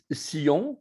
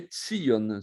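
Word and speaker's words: ציון: Sion, quand on dit Sion, en fait, c'est les Tsion, c'est un tzadé.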